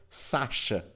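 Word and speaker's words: X Æ A-12: do casal afirmaram que a pronúncia do nome seria Sasha. Essa teoria considera que o X seria pronunciado com o som de SH, como é no português, por exemplo, mas em inglês o som é de X. E o símbolo AE é pronunciado como Ash, mais A. E aí seria igual a Sasha.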